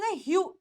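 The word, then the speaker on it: hue: लोग कैसे प्रोनाउंस करोगे एच इ यूई कैसे ह यू यू तो क्या बन जाएगा यह वर्ड बन जाएगा ह्यू ये वर्ड क्या बन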